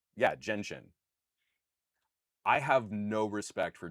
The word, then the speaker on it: Genshin: So yeah, um from H uh from Hikari, hey Juan, this might sound pedantic, but it is pronounced Jenshin. J as in jet genshin impact.